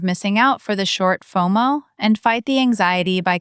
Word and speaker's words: FOMO: out, say I have FOMO. Mistake number two, pronouncing it as letters. Don't say F O M O. Say FOMO, one word rhyming with photo.